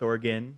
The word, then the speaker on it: Oregon: I'm doing the best I can here to pronounce things I've been corrected that it's not Nevada it's Nevada it's not why it's Oregon or oh that one I didn't know okay